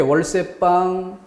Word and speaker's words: 월세방: 왼쪽에 월세방, 월세방. 표기가 안 됐으니까 예사소리 발음해야죠. 월세방, 어느 게 맞을까?